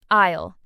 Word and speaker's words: aisle: The employee might say it's an aisle 7. Isle. A I S L E. The S is silent. It's a tricky word.